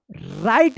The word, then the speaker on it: write: ठीक है, silent W, WRITE क्या पढ़ेंगे? इसको राइट पढ़ेंगे, वो राइट मत पढ़िएगा। और इसका नियम है कि R से पहले अगर W रहता है तो W जो है ना साइलेंट रहता है, इसका कोई उच्चारण नहीं होता है।